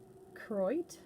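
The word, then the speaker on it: Koroit: spelt like choroid but apparently you're not supposed to pronounce the first o kroit something along those lines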